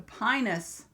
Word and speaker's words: Pinus: get this right because if I say it wrong it could sound weird the pinus cowl yes if you mispronounce it what would it sound like a different vowel so pinus p i